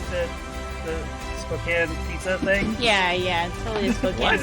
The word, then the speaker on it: Spokane: Spokane.